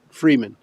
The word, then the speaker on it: Friedman: How do you say his last name? Freeman.